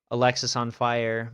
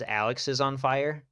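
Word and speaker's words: Alexisonfire: I just I guess I was never like a huge fan of Alexis on Fire. Maybe it's because I was the idiot and I always pronounced it as Alex's on fire because that just made more sense in my brain.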